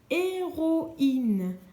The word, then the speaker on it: héroïne: Je te lis plus particulièrement ce mot-ci, une héroïne. Rappelle-toi, le tréma sur le i signifie que tu dois prononcer le i. Il ne peut pas se marier avec les lettres qui sont autour de lui.